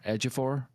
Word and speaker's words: Ejiofor: Ejiofor?